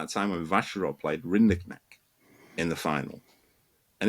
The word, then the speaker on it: Rinderknech: I should say Rinderknech. Rinderknech is the ATP accepted pronunciation, although I'm told that this differs from overheard in the laundry room in Shanghai.